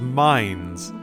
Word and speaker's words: Mainz: Are you telling me Mainz was always pronounced mines as a pun?